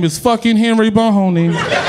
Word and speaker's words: Boney: Cause my name is fucking Henry Boney. My name is fucking Henry Boney. And it rhymes with free baloney.